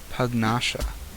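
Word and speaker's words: Pugnacia: don't have any access to crystal right nouns pronounced hug nasha nasha okay okay definitely would not have gotten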